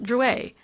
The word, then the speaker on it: Drouet: "It's pronounced Drouet. Our family was French on my father's side."